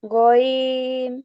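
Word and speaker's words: غين: র জা সিন শিন সদ দদ ত র আইন গইন আচ্ছা আপু, গয়নের উচ্চারণটা আরেকটু গলা থেকে আসবে। গ, গইন। গইন হ্যাঁ, মাশাআল্লাহ। আমরা যদি গ বলি, গটা উচ্চারণ শক্ত, তো গইনটা একটু নরম হয়।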